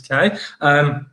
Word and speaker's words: Quay: there, or Quay Street, as it should be said, Quay, but been pronounced as K.